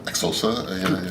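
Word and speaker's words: Xhosa: Exosa. Yeah, with an exclamation point. Then when I learned that you had to have that click, and you had to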